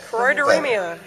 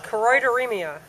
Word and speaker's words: Choroideremia: ribbon I'm wearing, and someone could help me pronounce the word. I can't say it. Choroideremia. One more time? Choroideremia.